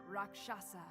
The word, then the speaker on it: Rakshasa: Raasa Rakshasa that makes my life so much easier.